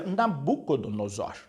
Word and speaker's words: Nabucodonosor: você escreveu aqui Olívia Mas essa palavra se pronuncia Nabucodonosor Nabucodonosor é o nome